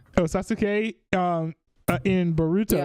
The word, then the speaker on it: Sasuke: Sasuke. Oh, Sasuke.